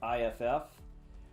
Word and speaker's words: iff: say we say if and this also is pronounced if iff which stands for iff